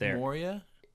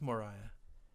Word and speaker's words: Moria: It's Moria? Yes. I thought it was Moriah. I thought it was Moria. I thought it was What How is it pronounced? Look it up. It's Moria yours.